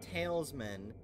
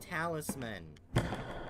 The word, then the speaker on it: Talisman: enough jerk I'll catch you later it's not talesmen it's Talisman dumb that is how it's pronounced right talisman that's always how I heard